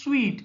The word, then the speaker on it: suite: Its pronunciation is suite, SUITE. Okay, so suite is a large room that you have particularly in a hotel.